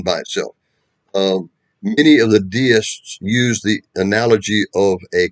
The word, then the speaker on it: Deist: D-E-I-S-T, Deist. Some people pronounce it Deist, same thing.